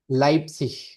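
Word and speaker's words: Leipzig: लाइप्सिश, लाइप्सिश, लाइप्जिग ठीक है, लाइप्सिश पढ़ते हैं इसको।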